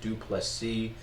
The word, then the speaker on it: du Plessis: taking on number five Drake is dupless C the S is silent the true African king wakanda forever because drakis du plessis is he's making a